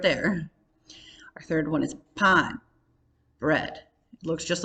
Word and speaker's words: pan: our third one is pon bread it looks just like the word pan in english but we're pronouncing it with the ah in spanish so pan forest queso cheese five